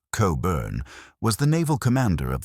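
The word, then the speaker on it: Cockburn: Rear Admiral George Cochburn, pronounced Cobburn, was the naval commander of the Chesapeake, and he was without question the most hated and feared man in America.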